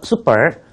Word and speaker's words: super: 영어로는 be named on the Super 301 list of targeted countries. 여러분 발음하실 때 중요하신 게 하나 있는데요. 슈퍼가 아니에요. 슈퍼. 그건 우리가 쓰는 말이고요. 영어는 super. 그렇게 쓰셔야 됩니다. 슈퍼가 아니고 super.